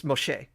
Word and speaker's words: Moshe: close to that but that's technically not how you would say his name in Hebrew it's Moshe and the reason we're calling it Moses or keep saying Moses